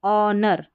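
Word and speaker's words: honour: यहाँ है इसको ऑनर, ऑनर क्योंकि एच साइलेंट है, ऑनर, और यह है आवर, आवर यानी कि घंटा, ठीक है, इस तरीके से।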